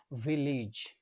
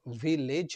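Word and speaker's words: village: এই এর উচ্চারণ হতে পারে বাংলা রসয় এর মত। রসই এর মত। For example ভিলেজ। এটা ভিলেজ নয়।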